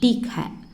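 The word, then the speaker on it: ठीक है: என்கிட்ட இல்லை, மேரே பாஸ் நஹி ஹை அப்படி தான் ப்ரொனவுன்ஸ் பண்ணணும். ஓகேவா? அடுத்தது பார்க்கலாமா? 16th ஒன் சரி. சரி அப்படின்னா டீக் ஹை.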